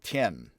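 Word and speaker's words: Thiền: Spelled T-H-I-E-N, Tien.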